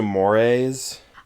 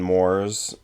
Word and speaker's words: mores: It's also mores. I may have heard it pronounced Mores rather than Moors.